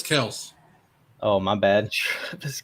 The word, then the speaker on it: Kelce: Why don't you just say his name right? How are you going to disrespect the man right here on our channel? Who? Fantasy shot caller? It's Travis Kelce.